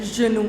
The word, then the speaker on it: genoux: Le genou, les genoux. You will not pronounce that X.